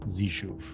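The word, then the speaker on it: Xeshu: spell the name zishu it's not a z it's X x e s h UF pronounced zishu I run the blade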